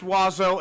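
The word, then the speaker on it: oiseau: Reddit post that ended with them saying is pronounced wazo and I will die angry about that which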